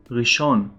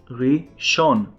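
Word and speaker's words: ראשון: of all we have Sunday in Hebrew we say Rishon Ray Sean but usually people will say yum richon Yom means they in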